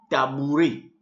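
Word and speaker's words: tabouret: conjonction de subordination voilà à end of word pronounce a so à first in number one we have tabouré tabouré le tabouré h kiting stool nous avons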